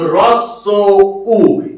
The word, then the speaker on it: হ্রস্ব উ: হস্যু কি জিনিস? হস্যু বলে কিছু হয় না, এর উচ্চারণটা সেম এই প্রসেসে, এর উচ্চারণটা সেম এই প্রসেসে। অর্থাৎ এর উচ্চারণটা শীত তেমন হ্রস্ব উ। তাহলে যে বললাম হ সাউন্ডলেস হয়ে যাবে, ঠিক তেমন এর উচ্চারণ হয়ে যাবে রস, তারপর সো, তারপর হচ্ছে উ। অর্থাৎ এর উচ্চারণটা সেম হয়ে যাবে কিন্তু রস উ। এই প্রসেসেই কিন্তু এর উচ্চারণটা হবে রস উ।